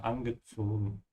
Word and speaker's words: angezogen: Careful with the Z sound. Eingezogen, like the S, yeah. Verzogen, angezogen.